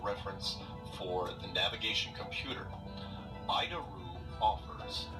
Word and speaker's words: ADIRU: So, the ADIRU system, also known as the Air Data Initial Reference Unit, we pronounce it IDARU.